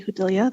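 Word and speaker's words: Judilla: For the record, my name is Hudilia. That's spelled M E L O D Y last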